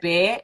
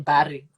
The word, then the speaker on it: Bare: And also remember, I'm also Sotho, so I use that dual pronunciation of the book, which is Yeah. bear and then bari.